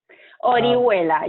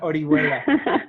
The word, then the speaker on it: Orihuela: And our guest today is Orihuela. Did I pronounce it right? Orihuela, yeah, almost. Almost there. Orihuela, who is a principal in non-operated joint ventures for BHP Minerals Americas.